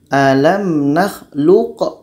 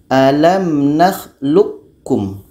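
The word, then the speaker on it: أَلَمْ نَخْلُقكُّمْ: ini sifatnya adalah qqalah kalau kita baca alamlum alamlum kalau sifat qqolahnya masih terdengar maka proses membacanya idogom Kamil belum terjadi Kapan terjadi idogom Kamil kalau huruf ini masuk kepada k karena itu di sini ada tdid atau syadah jadi kita baca alam nakhlukkum alam nakhlukkum proses baca huruf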